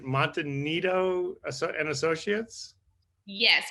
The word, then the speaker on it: Monte Nido: Monte Nido and Associates? Yes, Monte Nido and Affiliates.